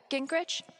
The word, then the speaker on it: Gingrich: Gingrich?